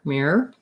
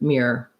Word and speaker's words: mirror: look in the mirror mirror it is two syllables mere er but that's hard to say and i do think sometimes it gets a little condensed to mirror mirror um so it